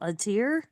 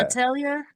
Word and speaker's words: Atelier: Luckily, remember I told you I got into that game called Atir? Mm-hmm. Atir, I think that's how you pronounce it. I'll Well, tell you. it's Yeah. Atelier.